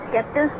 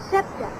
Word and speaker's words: scepter: scepter in my hand skepter what's the skeptic scepter it's pronounced scepter it's sort of a